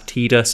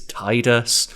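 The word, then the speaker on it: Tidus: zidane ten Titus and I know some people say it's pronounce tedus it's Titus and I believe a lot of them are weather related so to me the pronunciation of Titus sounds more correct you also have the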